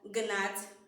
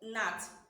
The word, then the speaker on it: gnat: So when you are pronouncing this word, you will not sound this G. Rather, you will start from the second sound, which is what? So instead of you pronouncing it as gnat, you pronounce it as what?